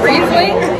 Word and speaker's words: Riesling: So like compared to all the other Rieslings, it's Riesling. It's a Riesling. Not Riesling.